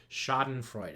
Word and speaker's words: schadenfreude: one of those choise so this would be pronounced as duh so putting it all together Sesame Street style we would call this schadenfreude er thank you for watching this is advanced dictionary skills with mr.